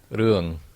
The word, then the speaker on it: Ruang: Urung? Is that how you say it? Urung? Ruang. Urung. Yeah, it's kind of like the NG, like lasagna.